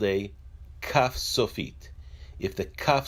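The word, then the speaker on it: כ: numerical value of 20 the calf when it has a digression side is pronounced as a cur when a calf does not have a digression side it is pronounced as the calf also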